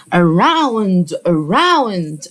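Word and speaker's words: around: بعد كده عندي اراو مين مش عارف ان الاو مع اليو ننطقها او ليه مين مستر مش عارف الحكايه دي احنا قلناها كتير الاو واليو بننطقها او يبقى اسمها اراو اراوند اهي كده الاورا مي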